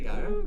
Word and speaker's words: gyro: Did you just say gyro? Gyro. Did I say it right? No, it's gyro. Gyro.